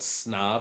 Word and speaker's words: Snov: like snov dot io it's called snov this is how it's pronounced i believe and you can actually